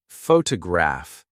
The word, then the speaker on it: photograph: For example, photograph noun is stressed on the first syllable, but photograph I see adjective is stressed on the third.